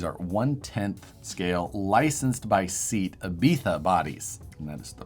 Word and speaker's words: Seat Ibiza: Works, which these are 1/10 scale, licensed by Seat Ibiza bodies.